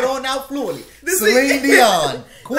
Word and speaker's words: Dion: Dion.